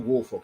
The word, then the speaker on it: Woolfolk: peace andrew will uh wolf how do you pronounce his last name uh andrew woolfork wolf andrew woolfolk he was uh one of the one of